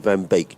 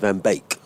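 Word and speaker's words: van Beek: I've been calling him Van Bake. Do you call it Van Bake as in Baker Cake?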